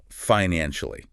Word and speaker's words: financially: That is three syllables and then financially. Four syllables. Financially. Listen closely to the stress on the second syllable of financially.